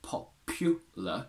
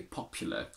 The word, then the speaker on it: popular: happen very often so technically we should say popular but it's much more common nowadays to say popular with the schwa we should say ambulance